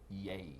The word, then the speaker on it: Jaeger: Jaeger. Jaeger? Jaeger. Jaeger. Jaeger. Yay. Like a Y. Like Jaeger. Jaeger. Jaeger? Jaeger. Jaeger. Jaeger. Jaeger. Jaeger. I think you just me now. No, he's Jaeger.